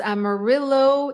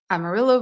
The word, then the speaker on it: Amarillo: according to the locals Amarillo is the English pronunciation not the Spanish pronunciation Amarillo versus Amaro yeah it